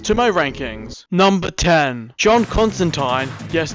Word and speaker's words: Constantine: Number 10, John Constantine. Yes, it's pronounced that way.